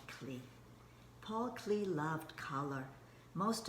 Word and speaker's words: Klee: In Switzerland, they pronounced his name Paul Klee, but in America, in English, we will say Paul Klee.